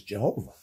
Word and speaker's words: Jehovah: And don't forget, you have the Latin, okay, that intervenes here, and why it was pronounced Jehovah as opposed to Yahweh, which is what modern Hebrew scholars prefer.